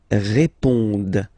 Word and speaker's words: répondent: Ils répondent. So same thing here, classic ending, ENT, but then you don't pronounce it.